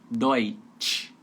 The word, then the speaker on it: Deutsch: Então tem que ser o T mais chiado. Deutsch.